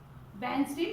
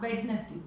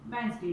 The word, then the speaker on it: Wednesday: Wednesday, not Wednesday. Wednesday. D is silent here.